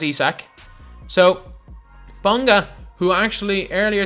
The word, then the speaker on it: Isaac: Stop saying it's Isaac. Well, it's spelled Isaac, so it's very, very understandable, but like, it is pronounced Isak.